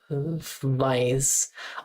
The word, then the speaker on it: weiß: Wissen, wüsste, gewusst, and weiß.